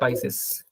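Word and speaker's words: Pisces: और मीन को हम बोलते हैं पिसिस। पाइसिस, ठीक है।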